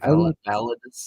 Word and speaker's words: Validus: Validus?